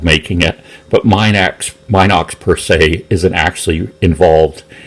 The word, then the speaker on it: Minox: I just never or Minox I think it's pronounced in an ox but I've learned it the other way so that's why I'm